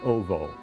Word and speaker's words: owo: There's a suffix in Polish, O-W-O, pronounced ovo.